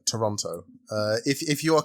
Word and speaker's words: Toronto: but ontario's capital is toronto yeah toronto the second t is pronounced silently that's how the canadians do it okay well in here